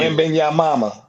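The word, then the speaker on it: Wembanyama: Wembenyama. That's his name. Last name Wembenyama. Wembenyama. Yeah, that's his last. That's how you pronounce it.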